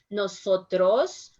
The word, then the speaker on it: nosotros: saying listen my pronunciation nosotros somos policias the buffalo grove remember that in english you said a little bit stronger than nosotros no sir trust in spanish we said a little bit softer nosotros nosotros so you